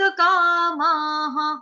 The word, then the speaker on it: कामाः: ठीक है, एक त आधा, एक त पूरा, विनिवृत्त कामाह। तो कामा वर्ड जो है ये भी आपके लिए कॉमन है, काम, कामा, कामा। आगे विसर्ग का उच्चारण होगा हा के साथ, कामा, हा, कामा, हा।